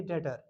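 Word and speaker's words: debtor: लेकिन यहां पर हम कहेंगे डेटर। टी ई बी टी ओ आर B silent रहेगा।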